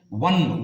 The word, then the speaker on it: won: ಒನ್, ಓನ್ ಅನ್ಬಾರ್ದಿದು. ಒನ್, WON should be pronounced as ಒನ್. ನಾವು ONE ಪದವನ್ನು ಒನ್ ಅಂತ ಹೆಂಗೆ ಬಳಸ್ತೀವೋ, ಹೆಂಗೆ ಉಚ್ಚಾರಣೆ ಮಾಡ್ತೀವೋ, WON ಕೂಡ ಒನ್ ಅನ್ನಬೇಕು.